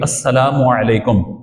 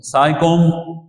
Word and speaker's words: السلام علیکم: بھی عطا فرماتا ہے۔ یہاں پہ تلفظ درست ہونا چاہیے، السلام علیکم، سائکم نہیں، یہ کوئی لفظ نہیں ہے، سائکم سائکم وعلیکم یہ بھی کوئی نہیں ہے، تو السلام علیکم اور